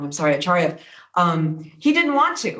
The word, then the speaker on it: Acharya: Amitav Acharya, I said it wrong, I'm sorry, Acharya, he didn't want to, right?